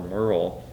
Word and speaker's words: Muriel: And Merle Baldridge, her first name is spelled Muriel, but everybody in Floyd County that knew her in the 1940s would call her Merle.